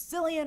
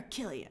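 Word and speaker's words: Cillian: always I always pick the wrong way to pronounce his name I think I got it right it's sillian or Killian all right so that's like his claim to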